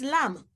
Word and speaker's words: lamb: It's lamb.